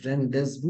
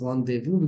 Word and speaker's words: rendezvous: Even though the spelling is Rendezvous, it's not rendezvous, it's rendezvous because it's a French word. It's not an English word originally.